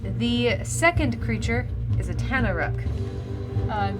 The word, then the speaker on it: Tanaruk: The second creature is a Tanaruk. Spell it? Tanaruk.